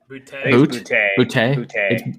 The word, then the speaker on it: Boutte: Keyshawn Booty, is that how you say his name? Boutte.